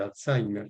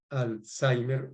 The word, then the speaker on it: Alzheimer: ¿Por qué se llama Alzheimer y por qué es correcto pronunciar Alzheimer y no Alzheimer? También es correcto Alzheimer, ¿verdad? Como está escrito. Bueno, pues porque es un apellido alemán, ¿sí?